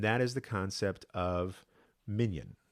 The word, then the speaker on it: minyan: is the concept of minion or minion I should say should pronounce him like the more modern Hebrew mignon because when I say